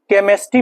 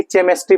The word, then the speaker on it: केमिस्ट्री: यह गलत हो जाएगा केमिस्ट्री पढ़ते हैं की केमेस्ट्री पढ़ते हैं देखि य यहां पर इसको केमिस्ट्री पढ़ा जाता है केमिस्ट्री अब केमिस्ट्री होता है ना कि केमेस्ट्री होता है तो सी का